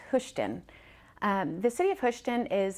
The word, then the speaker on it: Hoschton: that a lot some people call us Hoschton houston but it is pronounced hushed in the city of question is experiencing rapid growth